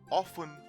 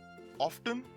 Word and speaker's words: often: by the british as often soften and hasten here the t is silent and hence not pronounced but the americans pronounce